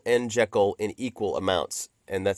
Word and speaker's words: Jekyll: I will warn you that I know it's pronounced Jekyll. I know that. But I will probably say Jekyll and Jekyll in equal amounts.